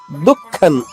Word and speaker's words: దుఃఖం: దుఃఖం అనకూడదు, పెదవులు కలవకూడదు మళ్ళా, ఎందుకంటే అనుస్వరం తర్వాత చరణంలో దే ఉంది, అంటే అనుస్వరం తర్వాత దా వచ్చింది కాబట్టి తాత దాద్ధ ఈ నాలుగు అక్షరాలు ఏదొచ్చినా గానీ అనుస్వర ఉచ్చారణ నా అవుతుంది, అంటే ఐదవ అక్షరం నా అవుతుంది. అందువల్లే దే ఉంది కాబట్టి ఇక్కడ అనుస్వరం నాగా పలకాలి.